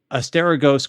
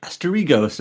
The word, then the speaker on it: Asterigos: No, you are pronouncing it correctly. When you read the word with an American English like mindset, you might think like Asterigos or something.